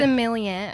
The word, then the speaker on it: sommelier: Sommelier. Sommelier.